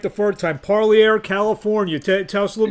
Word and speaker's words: Parlier: And to talk about your amateur career in California, the name of the town, I said it right the first time, Parlier, California.